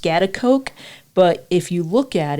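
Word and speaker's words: Schaghticoke: It's pronounced Scottsbluff, but if you look at it, the way that it's spelled, I don't know if you would come up with Scottsbluff.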